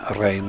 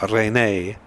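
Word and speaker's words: Raine: Ben Rain, this is. Yeah, no way of pronouncing that E at the end of his name, is there? Rene.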